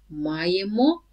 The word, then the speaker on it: маємо: Only be careful with the stress. So, ми маємо, ви маєте, вони мають. So stress on the first ma everywhere.